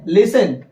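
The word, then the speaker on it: listen: लच और यहां पे लिसन लिसन लिस्टेड नहीं लिसन क्यों टी आई एन में से टी क्या हो जाएगा साइलेंट तो क्या हो जाएगा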